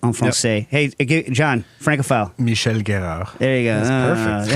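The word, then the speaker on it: Michel Guérard: garrard's place right or however you're supposed to pronounce it on Francais hey John Francophile Michelle Guero there you go that's perfect yeah yeah that's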